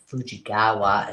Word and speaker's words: Fujigawa: Fujigawa is how you say her last name.